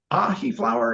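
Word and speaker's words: Ahiflower: Ahi flower is ahi, kind of like the fish ahi, and then flower.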